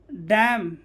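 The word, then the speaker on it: damn: तो एन क्या हो जाता है वहाँ पे, साइलेंट। जैसे ऑटम, कॉलम, डैम और हाइम, यहाँ पे एन क्या है, साइलेंट, एन क्या है, साइलेंट, ठीक है।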